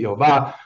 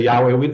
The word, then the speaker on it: Yehovah: I pronounce it Yehovah. Other people say Yahweh.